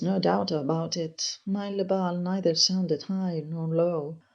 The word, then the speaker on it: le bal: My special pitch is le bal, which I pronounced low down with the open A, le bal, or that I take high by dwelling on the L, le bal.